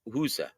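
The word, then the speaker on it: Hysa: some scouting on um on uh Nelson Husa and it's spelled H YSA and it's pronounced in Albania. Huza and Albania.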